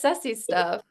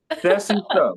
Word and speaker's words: Sessiestuff: Hosting your show uh how do you pronounce the show because it says sesy stuff but that don't that don't is that the pronouncing of it you killed it man it's sesy stuff Sessy stuff okay you